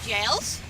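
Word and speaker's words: Gaol: return of the lovely jails yes that word really is pronounced jail but there's one little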